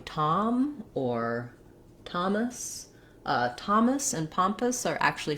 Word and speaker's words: Thomas: something to note and in thomas note that we have we can spell that with letter t in thomas it's often spelled with letter t h as well but it still makes the t sound that sound thank you